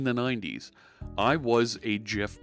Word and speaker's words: GIF: with folks on the west coast and they pronounced it gif and say look it looks it's graphics of course it's gif and that's stuck for me for better part